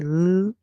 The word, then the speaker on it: large: When G comes before E, I, or Y, it makes a sound like J. So we are going to say J. The E at the end is silent.